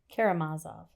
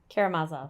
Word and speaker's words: Karamazov: Karamazov.